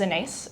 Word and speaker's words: Inais: very regularly say like hello my name is Anise it rhymes with face and a lot of